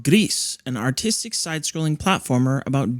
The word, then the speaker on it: Gris: so the game today this week is called Grease gree and it's uh not a cooking game and